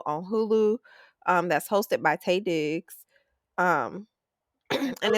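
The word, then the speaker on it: Taye Diggs: I've been saying that man name wrong. Girl, she she call him Ty Diggs, but his name is Tay.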